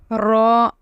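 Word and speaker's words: ر: Ra, Ra, Ra. The way we pronounce R-A-W in English, it is R-A-W is Ra.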